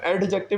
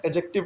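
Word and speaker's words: adjective: ठीक है, एडजेक्टिव का, एडजेक्टिव नहीं पढ़ते हैं, एडजेक्टिव पढ़ते हैं, डी साइलेंट होता है।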